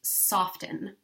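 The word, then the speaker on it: soften: of that acronym is soft and silent T I guess often know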